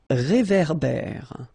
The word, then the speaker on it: réverbère: So here you've got this accent aigu, et, and then here you've got this accent grave, é. Okay, et, é. So it goes like réverbère. Okay, un réverbère.